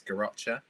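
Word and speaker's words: Garrotxa: we're after so we're i correct our pronunciation but it's garacha yeah yeah it's got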